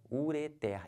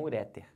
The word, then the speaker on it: ureter: aquele nome daquele é o que ureter e não ureter tá bom aqui como